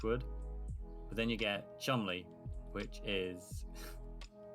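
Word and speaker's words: Cholmondeley: But then you get chumli which is an old English word that is spelled completely different from his pronunciation.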